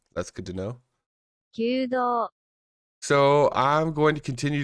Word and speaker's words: Kyudo: So the lines above the top of the O and the U are meant to symbolize extending that vowel. That's good to know. Kyudo.